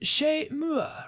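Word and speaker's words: chezmoi: It is pronounced she mua, right? It is French for at my house.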